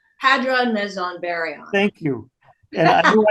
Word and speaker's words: Hadron, Meson, Baryon: I saw this I saw this song title and Hadron Meson Baryon. Hadron Meson Baryon. Thank you. And I knew I'd mispronounced that, but I thought, oh, that's interesting.